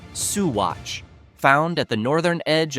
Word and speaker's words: Saguache: From a frozen town to one known for stories of night skies and beings from outer space, this is Saguace, pronounced Suatch, found at the northern edge of San Louis Valley.